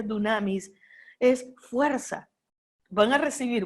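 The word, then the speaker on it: δύναμις: a recibir poder poder la palabra dinamis se escribe se pronuncia dunamis es fuerza van a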